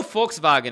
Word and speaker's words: Volkswagen: Okay, in German, your pronunciation is terrible. I know Volkswagen is right.